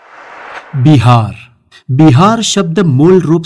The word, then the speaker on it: बिहार: और इन विहारों से उस प्रदेश का नाम बना विहार और बाद में हो गया बिहार। क्योंकि बिहार और पश्चिम बंगाल के आज भी कई सारे लोग व को ब के रूप में प्रोनाउंस करते हैं।